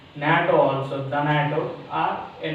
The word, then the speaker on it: NATO: This abbreviation pronounced as a word.